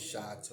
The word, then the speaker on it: shah: I pronounce it as shah, tomato, because like in